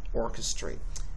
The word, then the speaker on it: orchestrate: Okay, you're going to see this little backward C, and then there's going to be an apostrophe in front of it, letting you know that you are going to place emphasis on the first syllable. And then the lower apostrophe over here means you are going to de-emphasize the last syllable, orchestrate.